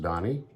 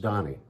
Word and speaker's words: Dahni: Donnie and it's pronounced Donnie just like you would think but the spelling of it is of my own invention and it's spelled d-a-h-n-i pronounced Donnie um in Japan my